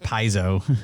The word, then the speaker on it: Paizo: I think it's pronounced Paizo. Is it? It is Yeah. pronounced Paizo. Sorry, I was basing it on Bob's pronunciation. No, I said Pazio for a while too. It's like Paizo.